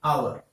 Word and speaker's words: hour: check the sound here e2r is our means hour it is but it is a silent member